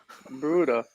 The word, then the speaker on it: Baruda: Oh, Baroda. Correct. That's how you say it? 'Cause I was saying- Baroda, same thing. What, I want to know what you prefer. What do you prefer? Baruda, Baroda? Baruda.